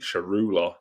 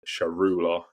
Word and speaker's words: Tsaroulla: So let's introduce him, Nick Tsaroulla. I think that's how you say his name. I hope that we get some form of clarity on that so that we can move forward and pronounce it properly if we haven't there. But I'm pretty sure it's Tsaroulla.